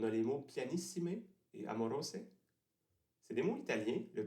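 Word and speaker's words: amoroso: expérience en italien mais apparemment il faut prononcer à moroset ce qui rime pas avec Rose donc c'est une rime sur papier plutôt que une rime à l'oreille on peut remarquer aussi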